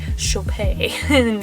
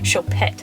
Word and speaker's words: Choupette: I'm pronouncing that right I'm assuming it's fancy chopay not chopet yes she is gorgeous